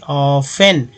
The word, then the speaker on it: often: ऑफन का मतलब आप समझ सकते हैं कि भाई ये ऑफन क्यों पढ़ा जा सकता है, क्यों पढ़ते हैं ऑफन। तो इसलिए दोस्तों कि टी यहाँ पर साइलेंट कर दिया गया है।